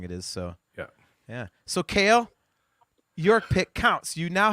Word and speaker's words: Cael: Cael, not.